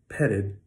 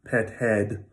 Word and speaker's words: petted: These ones are always pronounced with a reduced vowel, petted. So I'm American, so I say petted, not petted, but petted. The second vowel is always reduced. It's never pet head, right? It's always petted, okay?